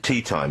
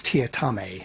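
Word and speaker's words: Teatime: And his name, it reads as Mr. Tea Time, but that's the incorrect pronunciation, isn't it? It's Tia Tame.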